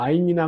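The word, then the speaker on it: עין: 요 I는요, 이것도 현대 히브리어에서는 묵음 처리라는데, 이거 목구멍 아주 깊숙이 나는 소리입니다. 이런 발음이에요.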